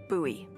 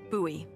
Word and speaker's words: Bowie: out this huge Rusty Bowie knife it's actually pronounced buoy what booy knife no it's like the last name like David Bowie different last name buoy are you just messing with me no that's